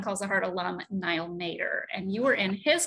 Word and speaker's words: Matter: And he pronounces his last name Matter. I mean, it's M-A-T-T-E-R. That's Matter, man. But he's like, Matter.